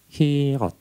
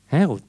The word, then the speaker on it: Hirot: Jadi kita bacanya Hirot. Mereka baca Hirot. Dan ini yang dilafalkan di Alkitab ditulis Pihahirot. Daerah yang di Pihahirot. Tetapi beberapa penafsir dan juga ternyata orang Ibrani atau orang Israel lebih suka menyebut dengan ejaan memakai E atau He. Dan dipasanglah U di sini, bukan O. Jadi dibacanya Herut.